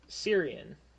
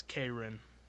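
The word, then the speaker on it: Caerin: I don't think so how do you spell it c a e r i n well that's okay well that's that's not the pronunciation it's kin my apologies I wasn't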